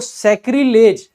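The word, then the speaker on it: sacrilege: वो दूषित हो जाती हैं, अपवित्र हो जाती हैं, तो सैक्रिलेज। बाकी इसको सैक्रिलेग करके अगर याद रखोगे तो जल्दी याद हो जाएगा, वैसे इसका प्रोनाउंसिएशन सैक्रिलेज होता है।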